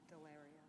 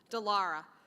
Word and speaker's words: Delara: And I'm going to pronounce her name wrong. Can you say it right? Delario. What is it? Delara.